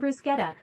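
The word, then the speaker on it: bruschetta: you question I like spaghetti noi pizza and brusketta I mean this is also not truly native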